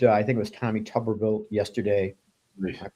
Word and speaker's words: Tuberville: if you heard I think it was Tommy tuberville yesterday am I pronouncing that right yeah coach one of the